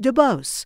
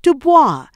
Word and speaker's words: DuBose: to bring this out he pronounces his name just DuBose not Dubois to avoid being confused with his father it was after serving